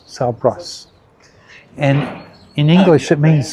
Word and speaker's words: São Brás: The pronunciation of this fort, Salbras. Yes, Forte de São Brás. Salbras.